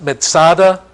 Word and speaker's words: Masada: side of the Dead Sea Masada is it's pronounced Masada and it means fortress or stronghold it's not